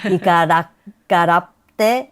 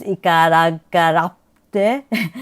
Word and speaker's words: Ikarakaratte: Ikarakaratte, hello, please hello. You have to know that there's a small P, as in many Ainu words, Ikarakaratte.